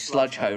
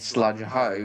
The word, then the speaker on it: Sludge Hole: restore the narrow gauge Sludge Hole Railway. Sludge Hole. I keep pronouncing it sludge hoe. It's supposed to be sludge hole, according to Electro.